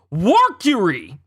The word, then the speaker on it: Warcury: 5 elders, Godhead of Justice, Saint Topman Warcury. Like Mercury, but Warcury.